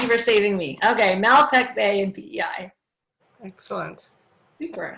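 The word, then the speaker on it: Malpeque: i pronounced it right mel pick b might make mel yeah anyway sounds like malpek okay thank you thank you for saving me okay malpek bay and pei excellent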